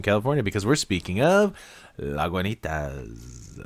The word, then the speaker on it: Lagunitas: because we're speaking of la guanitas lagunitas is uh how they say you should be pronouncing that uh brandon is inspecting